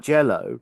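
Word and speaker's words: Green Jellÿ: to green jelly but with an umlout over the Y which still makes it sound like jello even though it's spelled green jelly.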